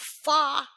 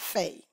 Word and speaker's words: Fay: Yo, today, baby, we have FAY EHSAN. I hope I'm pronouncing it right, because I know it's not Faye. That's just wrong. It's FAY.